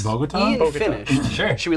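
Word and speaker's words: Bogotá: Is it Bogota? Oh. All right. Is that how you pronounce it? Yes. Bogota?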